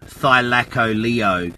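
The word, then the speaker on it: Thylacoleo: computer right now it's t-h-y yeah l-a-c l-e-o thylako leo can't fx with a c oh you're right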